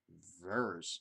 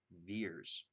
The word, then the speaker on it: Vers: I thought Captain Marvel's name was Vers, not Veers. Because her last name is Carol Danvers, and they just called her Vers because they find her